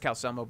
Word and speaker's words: Calcelmo: by calcelmo of markarth i know it's cal selmo but i like to pronounce it as if it was an italian man fourth of the evening